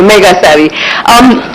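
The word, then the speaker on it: Megasari: Okay, Mega Savvy.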